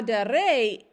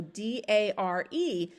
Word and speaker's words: dare: a first conjugation verb the exception is that the second principle part does not have a long a in the ending so d-a-r-e it doesn't have a macron but it's still part of the first conjugation verbs so here's the conjugation